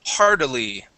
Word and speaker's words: hardily: go to hardily okay let's pronounce that t like a d hardle hardily hardily good yeah just like you did with sitting that sounded really good your Double T sounding like a d that was really good